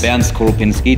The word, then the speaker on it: Bernd Skorupinski: My name is Bernd Skorupinski, this is how you pronounce it correctly.